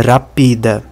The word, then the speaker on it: rapida: E se fosse a sílaba tônica sobre o último a, seria rapidá. Mas não é nem rápida, nem rapidá. É rapida. Sílaba tônica sobre o pi.